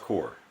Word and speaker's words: corps: It's pronounced core. Okay. Yeah. It's There's French. a P in there. It's French. You ever heard of esprit de corps?